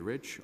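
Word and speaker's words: Reich: rich rei CH r apologize for my own mispronunciation I'm the president and chief operating officer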